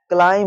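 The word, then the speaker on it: climb: बी के एम के बाद में बी आ रहा है। क्या? क्या हो जाएगा? क्लाइम हो जाएगा।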